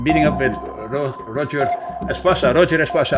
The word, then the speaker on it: Roger Espasa: Roger Espasa, I do pronounce it right. It's the English version, I think, of Roger Espasa. Yes, okay, good.